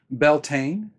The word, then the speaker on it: Beltane: might say them differently belan is an englishy pronunciation and it's the pronunciation I first heard when I was starting